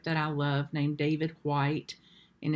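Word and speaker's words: Whyte: i love named david white and his name is spelled w-h-y-t-e david white so many of you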